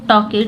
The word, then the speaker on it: talk: start करते हैं द टके यू बर्बर टॉकेट जो है टॉक टॉक में ये एल है और इसको हम पढ़ते नहीं है ये साइलेंट वर्ड होता है टॉक मतलब होता